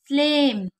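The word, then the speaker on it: sleigh: पढ़ेंगे स्ल जैसे की स्लेम स्लेप स्लेड स्लीव इसे क्या पढ़ेंगे बताइए स्ले क्योंकि ए आई को ए पढ़ते हैं और जी एच हमारा साइलेंट होता है इसी तरीके से स्लीप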